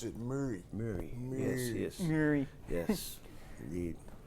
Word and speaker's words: Murray: Just like his name, I pronounce it Murray. Murray.